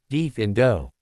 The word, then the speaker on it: defendo: The incantation is defendo, pronounced deaf indo.